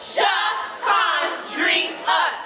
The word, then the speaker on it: Shakandria: It's pronounced Shakandria. Say it right or don't say it at all.